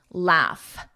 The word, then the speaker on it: laugh: So phonetically, hiccup, hiccup, thorough, erro, er. Thorough, laugh, f, with that F, laugh, laugh, through, through.